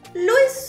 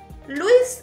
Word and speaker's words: Luis: Luis Suárez, el Tiburón. I've heard people pronouncing Suárez as Suárez and stress the U in Luis instead of the I, which would be the correct pronunciation.